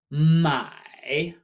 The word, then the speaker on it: 买: top of our head we have my my like my oh my my to purchase this means to purchase